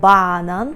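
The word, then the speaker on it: banan: нічого важкого правда лише Зверніть увагу на наголос бо банан так банан має наголос ну незвичний для нас але для поляків звичний бо у польській мові фактично весна наголошуємо перед останнім склад будьте обережні банан ще подібним фруктом який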